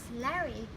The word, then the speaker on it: Larry: So today I've got a special guest, is Larry. Am I correct? Do I pronounce it correctly? You did it perfectly.